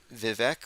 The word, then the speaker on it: Vivek: it spelled or it's Vivek or is it someone said it rhymes with fake like I gotta get